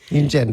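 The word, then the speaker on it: Yunjin: Oh gosh, guys, help me pronounce this. Yoonjin? Yoonjin, there we go.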